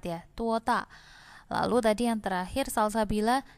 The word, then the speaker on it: 多大: Lalu, 你今年多大？大应该是第四声, harusnya ada 4 ya, 多大.